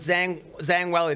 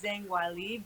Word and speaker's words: Zhang Weili: Now, how surprised were you with Zhang Weili, the champion?